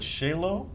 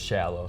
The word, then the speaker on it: Shallow: Was it Shalo? It's shallow. Shallow. Mike Shallow, like shallow water.